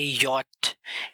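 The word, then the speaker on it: ja: इस लेटर को प्रोनाउंस किया जाता है यॉट, यॉट, क्योंकि जर्मन जे वाई के बराबर होता है, उसका जो साउंड होता है वो वाई वाला होता है। एग्जाम्पल या।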